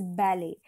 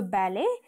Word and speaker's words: ballet: of this word is ballet the last letter is ENT that is T and the second syllable is pronounced as Le So balet and I've given you